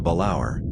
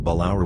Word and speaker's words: Balaur: species of the monotypic genus balaur after the balaur romanian pronunciation a dragon of romanian folklore the specific